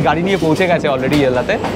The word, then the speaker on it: Ella: অজিত গাড়ি নিয়ে পৌঁছে গেছে অলরেডি ইয়েল্লাতে। আচ্ছা, উচ্চারণটা আমি করছি ইয়েল্লা, এরাও তাই করছে, কিন্তু স্পেলিংটা হচ্ছে ELLA, ELLA, ইয়েল্লা, ইয়েল্লা, কিন্তু এরা বলছে ইয়েল্লা।